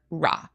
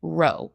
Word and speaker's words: rå: I'll call her Ra. Oh, kind of pronounced Ro, not Ra.